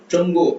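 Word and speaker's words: 中: ZH. அது வந்து DCH ஆர் J sound நாக்க மடக்கி ப்ரொனவுன்ஸ் பண்ணுவோம்.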